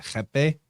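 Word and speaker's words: rapé: It's spelled like, it looks like it's spelled rape, R-A-P-E, but they pronounce it jepe.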